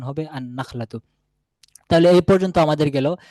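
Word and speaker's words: النخلة: তাহলে সেক্ষেত্রে বলতে হবে আন নাখলাতু আনাখলাতু এখানে লামটি আসবে না বরংলাম টি নুনের সাথে মিশে গিয়ে নুনের উচ্চারণ হবে আন নাখলাতু।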